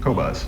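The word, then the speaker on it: Qobuz: The Q-Boat, how do you pronounce it? Cobuzz.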